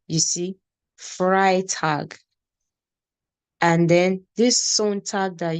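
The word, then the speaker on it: Freitag: just like you have Friday now it's called fry tag you see fry tag and then this tag that you talk about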